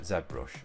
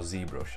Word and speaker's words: ZBrush: take a look at ZBrush or ZBrush as it's also pronounced I know I get a few people commenting on how I pronounce ZBrush as ZBrush it's probably just a British thing so here we have